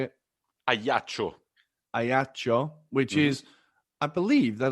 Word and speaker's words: Ajaccio: Ajaccio, which is, I believe, they're like the only